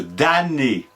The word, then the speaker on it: dam: d'ailleurs c'est pour la même raison qu'on ne prononce pas le M de Dané en latin damnum désignait le préjudice et c'est